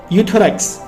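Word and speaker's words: Euthyrox: उसका नाम क्या है यूथस यहां पे गाइस ई साइलेंट है सिर्फ यू पढ़ते हैं हम थायरॉक्स 100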